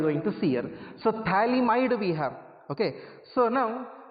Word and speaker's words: phthalimide: So this is a phthalimide. For your reference, I will write the name of this one. P is silent here, you should spell it as phthalimide. So phthalimide, when it is treated